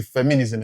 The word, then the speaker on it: feminism: I hope by now you didn't say feminism again. That's correct if you said feminism. Fem- the first syllable, fem- i- nism. Feminism promotes equal rights for women.